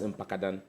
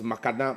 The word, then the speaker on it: Mpakadan: Now the president comes to say that it is his project, and he couldn't even pronounce Mpakadan. There was Makadan, Makapa, and I shouted Mpakadan, and even with that, he couldn't pronounce it.